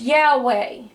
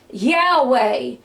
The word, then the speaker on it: Yahweh: or yhw ni and yhwh is pronounced Yahweh if you ever heard God's Divine name Yahweh it is yhwh and it's Yahweh ni and Jehovah ni